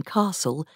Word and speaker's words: castle: The pronunciation of t in castle and the l in wood also disappeared.